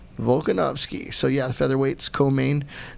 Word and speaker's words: Volkanovski: Hawaii boys against Alexander and somebody tell Volkanovski. Did I say it right? Yep. Volkanovski.